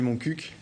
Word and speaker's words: Montcuq: Alors la véritable prononciation, c'est Montcuq. Vous aviez raison, Anthony. Donc voilà, par la Montcuq, on s'est dit que